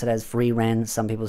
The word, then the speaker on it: Frieren: and the new anime that's just been airing, Frieren or Frieren, or whichever one you want to pronounce it as, Frieren, some people say.